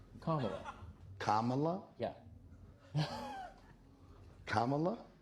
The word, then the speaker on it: Kamala: name Kamala Kamala yeah Kamala like comma La that's fresh dude sry